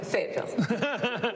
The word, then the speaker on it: Fayetteville: Fayetteville.